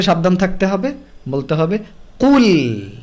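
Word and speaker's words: قُلْ: আমরা অনেকে এভাবে পড়ি কুল, কুল, লাম মোটা। সো এটা থেকে সাবধান থাকতে হবে, বলতে হবে কুল। লাম বলার সময় একদম নর্মাল হয়ে যেতে হবে, বলতে হবে কুল, কুল, কুল।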